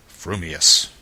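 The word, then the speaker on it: frumious: your mouth and speak if your thoughts incline ever so little towards fuming then you will say fuming Furious if they turn by even a hair's breath towards Furious you will say Furious fuming but if you have the rarest of gifts a perfectly balanced mind you will say fumus supposing that when pistol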